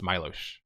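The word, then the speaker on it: Miloš: Also, my name is pronounced Milosh.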